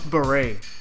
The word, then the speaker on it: beret: Barrett oh yeah plus beret beret is pronounced like bow gray you know like the Green Berets just cuz Barrett is